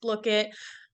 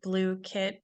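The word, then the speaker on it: Blooket: heard of Boom cards look it um or blue kit as they told me I can't believe I've been pronouncing that for two years around that's okay we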